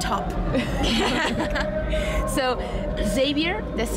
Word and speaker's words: Xavier: So Xavier, that's how you say it? Yeah. Xavier was a young boy who's never loved before.